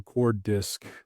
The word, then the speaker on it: Coordisc: It's the beginning of coordination and then the beginning of discovery. So Coordisc, however you pronounce the first couple syllables of coordination, is how you should pronounce that word.